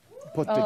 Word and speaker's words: Portugal: Portugal.